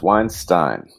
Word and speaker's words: Weinstein: Most people pronounce it incorrectly, but it is definitely Weinstein.